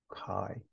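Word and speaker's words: chi: square is Kai Square the Greek letter Kai pronounced Kai a Kai Square variable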